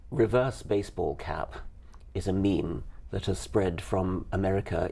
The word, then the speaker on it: meme: and just called it meme I wanted something that ideally should have rhymed with gene but it doesn't quite rhyme with gene it's a sort of thing but it's sort of